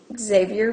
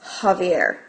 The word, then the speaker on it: Javier: of a gallon can Xavier buy for his car I realized I just said his name wrong is Javier so the first thing